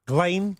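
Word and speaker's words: Ghislaine: Um I guess Jelene Maxwell or how was it? How's it pronounced? Glane. Gla.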